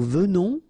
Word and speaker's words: venons: Okay, so final S not pronounced, and then remember that you pronounce this E like a V, venons, okay, O-N in your nose, on, Venons.